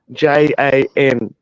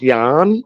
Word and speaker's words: Jan: called his son Jan j a n but because he's a stupid redneck idiot it's actually it was actually cuz me dad's name's John and so it's actually meant to be pronounced Yan so he actually picked